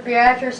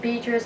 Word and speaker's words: Beatrice: Remember, Beatrice, Nebraska. You may pronounce it Beatrice. That's the way it's spelled.